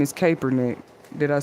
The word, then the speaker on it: Kaepernick: I know his name is Kaepernick.